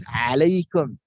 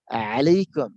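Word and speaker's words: عليكم: So many Arab, when they chat, they use 3 or 9 when they want to use that Ain. Ain, because there is no equivalent of alphabet in English. So 3 I have written purposely because to pronounce is alaikum, alaikum, alaikum.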